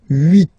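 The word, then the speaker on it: huit: Then here, final T is pronounced. So 8, 8.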